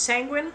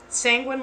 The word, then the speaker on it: Sanguine: Oh, by the way, the name is pronounced Sanguine, much like penguin. Oh my goodness, thank you so much for the 7.6K. Thank you. But yeah, like, Sanguine like penguin is the name.